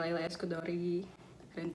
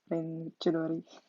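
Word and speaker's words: Leila S. Chudori: Terus ada anaknya Laila Eskudori. Maaf guys, itu by the way bacanya Ren Chudori.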